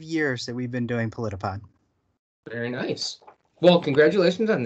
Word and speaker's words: Politipod: You produce a show called Politipod.